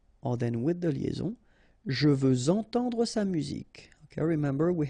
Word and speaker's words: je veux entendre: Or then with the liaison, je veux entendre sa musique. Okay, remember we had the same rule. Even if we've got this X at the end, well, with the liaison it will sound like Z.